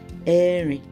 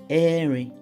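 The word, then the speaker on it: ẹ̀rin: We say Erin.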